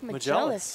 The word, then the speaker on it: Magellus: It's Mark Magellus. Oh, Mark Magellus. Magellus. Magellus. Yep, kind of like Mark Magellan.